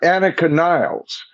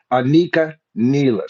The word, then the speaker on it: Anika Nilles: And they're going to be doing it with Anika Nelis. Now, a lot of you may be uh uh uh calling her uh I have to look at the original spelling. Yeah, Anakin Niles.